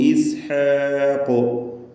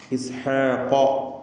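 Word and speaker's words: إسحاق: വഹബ്നാ ലഹു ഇസ്ഹാഖ്. അവിടെ ലഹു എന്നതിലെ ദീർഘം മദ് അസ്സിലത്തിൽ കുബ്ര എന്നതാണ്. മദ് അസ്സിലത്തിൽ കുബ്ര ഇതിന് മദ് മുൻഫസിലിൻ്റെ വിധിയാണ്. 4-5 ഹറക്കത്തിൻ്റെ അളവിൽ ദീർഘിപ്പിക്കൽ അനുവദനീയമാണ്. വഹബ്നാ ലഹു ഇസ്ഹാഖ വയഅഖൂബ്. ഇസ്ഹാഖ ഖാഫിന് പൂർണ്ണമായ തഫ്ഖീം.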